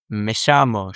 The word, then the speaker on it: llamo: In my opinion, I like to blend, like, you know, in Argentina, they pronounce the double L's and Y's like sh, like me llamo, yo me llamo.